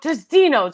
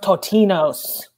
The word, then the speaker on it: Totino's: We're trying to exit, and we're talking about Tostino's, okay? Yes. Eat your dinner at home, folks. Go to the party. Leave the party when you want to leave the party. Council, I'll hear it. It's pronounced Totino's.